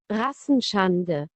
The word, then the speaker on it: Rassenschande: العرقي أو العار العنصري، الذي نطقه في الألمانية بهذا المصطلح. Rassenschande.